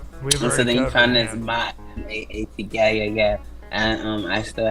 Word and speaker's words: Ma'at: That's what I know the Ma'at to be, and that's what they call it, the Ma'at, not Mat. And then but I guess it is pronounced that if you run it together, and then they have